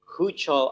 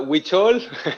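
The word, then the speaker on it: Huichol: american mexican artist promoting hoocho art i hope i don't make a mistake in pronouncing that yeah uchol is it correct zillow it's uh witchol oh which are sorry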